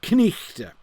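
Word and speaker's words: knight: sticks is in fact knichte. Knichte. You pronounce the K and the N, and you do the ch on the GH, so the thing is pronounced knichte.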